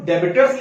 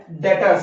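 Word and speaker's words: debtors: हैं which is डेटर्स, इसको डेबिटर्स लिखा जाता है बट पढ़ा जाता है डेटर्स। ये जो बी होता है ये साइलेंट होता है। बहुत से लोग, बहुत से बच्चे इसको डेब्टर्स पढ़ते हैं। इट्स नॉट डेब्टर्स, इट्स डेटर्स।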